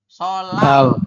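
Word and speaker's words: 설날: Jadi bacanya bukan solnal, tulisannya memang solnal, tapi kita bacanya bukan solnal, yaitu dibacanya adalah solal ya.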